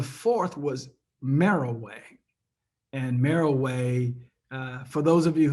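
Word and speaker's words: Meroe: simply google pyramids and merrill way um and mariway is not spell it's it's almost like it's m-e-r-o-e so that appear to be monroe but merrill way is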